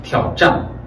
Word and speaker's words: 挑战: 그 다음에 T로도 발음이 됩니다. 근데 빈도수가 많지는 않아요. 도전이라는 단어가 있어요. 도전. 이걸 발음하면 挑战 이렇게 됩니다. 挑战 건소리를. 그래서 디귿이 T.